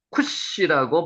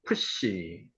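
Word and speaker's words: כּוּשׁ: 쿠스 쿠시라고 발음합니다. 쿠시 발음되죠?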